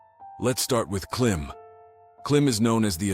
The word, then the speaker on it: klīm: Clim is pronounced as cle with a long e sound.